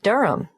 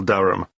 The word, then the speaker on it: Durham: at one euronga Street Durham how do you spell Durham d-u-r-h-a-m of course I should know that but it's just one of those names that sounds quite different from the way you spell it it is confusing I've